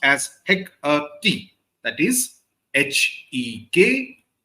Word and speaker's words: Hecate: That is Hekuhte. This is the British pronunciation, though in old Shakespearean